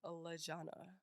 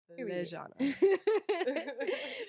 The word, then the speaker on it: Lejona: That is ALEXISLEJONA, and that is pronounced Lejona. You heard it. Don't say it no other way. Okay. Lejona.